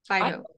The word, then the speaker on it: phyto: as from the, I always get this word pronounced wrong, phytochemical science focus view. Uh-huh. Phyto? Phyto.